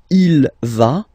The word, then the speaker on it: il va: Basically, you pronounce it like for the tu, because you don't pronounce the final S, okay? Il va, elle va, okay?